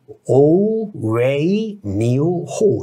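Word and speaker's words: 无为牛后: 닝웨이 지코 그 다음에 오웨이 니오 호 이렇게 발음이 나요. 중국 발음으로 하면 이 소가 니오 아닙니까?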